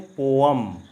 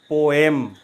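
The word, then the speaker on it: poem: सही प्रोनाउंसिएशन बताएं, एंड इट इज़ पोअम नॉट पोएम।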